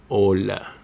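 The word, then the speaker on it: hola: The h is silent in Spanish. There's no English or Arabic equivalent because it is not pronounced like in ola.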